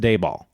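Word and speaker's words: Dabal: He's like, "Oh, um yeah, that's D A B A L." Pronounced Dayball.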